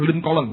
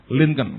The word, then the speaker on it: Lincoln: Kalau baca dengan lincolon. Lincolon saudara bacanya Lincoln. Saya dulu bacanya Abraham Lincolen. Lincolen sampai di Amerika lihatlihat patungnya gede di Washington itu saya bilang ini Abraham Lincolen. Lincolen teman saya berat hus bukan Lincolen katanya mereka linken.